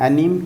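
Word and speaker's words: anime: अच्छा, आप ये बताएं, ये सीन एंड एनीम क्या है? आपने बताया है इसमें watching scene and एनीम। सर इसको कैसे प्रोनाउंस करते हैं?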